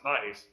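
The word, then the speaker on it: 9ice: There was another rapper named 9 Ice, which is it's the number 9 ICE, but it's pronounced Nice.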